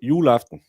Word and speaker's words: juleaften: Normally, we just pronounce the beginning, and then we'll just trail off for the end. So it's like Christmas Eve, where you say Christmas Eve. We say juleaften.